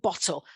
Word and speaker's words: bottle: the finger technique but the stress would be on the first one so bottle and that's different from